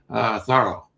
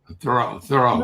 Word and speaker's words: Thoreau: And then as he got thinking about his last name, he liked the sort of French pronunciation better, Thoreau, rather than Thoreau.